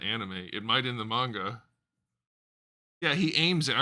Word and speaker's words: manga: You know what's funny is people say manga, which is basically how you pronounce it in Japanese. I don't hear anybody say anime in the Japanese way. It's always anime, not anime, which is interesting.